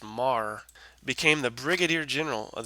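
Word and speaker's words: Meagher: named Thomas Francis Mah it looks like meager but it's pronounced Mah became the Brigadier General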